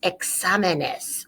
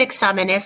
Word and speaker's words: exámenes: So muchos exámenes. Muchos exámenes. Now, let's look at the word exámenes for a second and notice the accent on the ah.